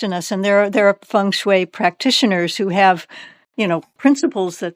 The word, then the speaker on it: feng shui: Um, feng shui, or is it Feng shui, yes. feng shui? That's perfect. Good pronunciation.